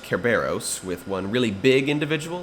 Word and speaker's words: Cerberus: film's pegasus can add cerberus you got a three-headed hellhound maybe it can be a species more properly pronounced kerberos with one really big